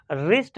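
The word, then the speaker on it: wrist: आर आई एस टी, रिस्ट मत बना देना, क्योंकि रिस्ट सुनते तो हो लेकिन उसकी स्पेलिंग डब्ल्यू से शुरू होती है।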